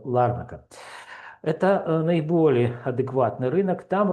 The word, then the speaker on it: Ларнака: Помните, вчера я говорил о провинции Ларнака или Ларнака. Ну, там я еще не разобрался, куда ставить ударение, но говорят правильно, что Ларнака.